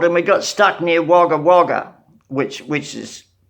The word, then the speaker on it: Wagga Wagga: we got stuck near Wagga Wagga, which is, it's written Wagga Wagga, but it's pronounced by the whole world as Wagga, one word.